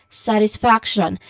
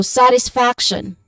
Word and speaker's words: satisfaction: So this word is again you say it as satisfaction. Now the stressed syllable or syllables here would be on the first and third uh third syllables which are sat and um faction f.